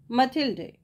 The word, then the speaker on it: Mathilde: मथिल्डे, देखिए इसका pronunciation कई जगह कई है, कोई मथिल्डे कहता है, कोई मैथिल्डे कहता है। ठीक है, तो आपको जो सुटेबल लगे आप बोलिए।